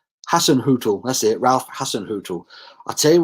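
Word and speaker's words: Hasenhüttl: all about ralph hassan talked has had you pronounced his name hassan hootool that's it i tell you what he could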